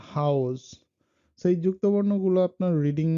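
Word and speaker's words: Haus: আ উ, আ উ এটার উচ্চারণটা হলো যুক্ত বর্ণে যেভাবে হয় সেটা হলো আও, লাইক খাও, যেমন হাউস।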